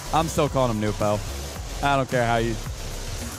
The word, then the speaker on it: Nwpo: Yeah, they're calling him Nobu now. Apparently that is closer to like the actual pronunciation. I'm still calling him Nwpo.